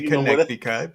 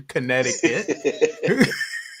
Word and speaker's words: Connecticut: however you want connect the cut I say connect the cut but we we online and I want everybody to hear the correct pronunciation Connecticut right Connecticut yes uh I did go back